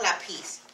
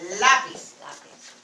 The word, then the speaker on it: lápiz: But it's not lápiz. It's lápiz. Okay? That makes the emphasis in the word. Okay? In the syllable.